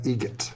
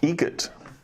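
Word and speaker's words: Eget: How do you say the name? Adam Egget. Egget. Spelt differently. Like the bird. That's Egret.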